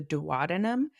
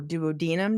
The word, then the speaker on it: duodenum: Then our stomach goes into our beginning of our small intestines, which is the duodenum or duodenum, depending on how you say it.